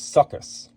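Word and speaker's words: Suchus: So Sobek is, first of all, also known as, I'm going to spell it for you, S-U-C-H-U-S. So that is succus, right? So just to begin with, this is Sobek. Also goes by the name succus.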